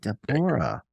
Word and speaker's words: Deborah: Deborah, actually.